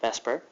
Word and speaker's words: VSEPR: like Vesper is like the zipper but we pronounce it Vesper and here's what it stands for it stands